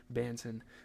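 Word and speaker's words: Dalano Banton: the bench for Delano Bon Banton not baiton Jesus I tried to rhyme with Aon there banson who shot 33% from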